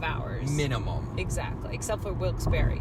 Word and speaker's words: Wilkes-Barre: No, it reads Wilkes-Barre. But there's an E at the end. And so the locals say Wilkes-Barre, and it makes no sense in my head.